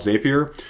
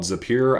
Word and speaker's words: Zapier: in too much detail this is called zapier or zapier some people like to call it i've even heard some people call it zapir i don't know exactly how to say it but i call it zapier so inside of zapier